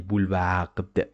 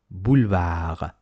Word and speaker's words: boulevard: Don't say boulevard. No, no, boulevard.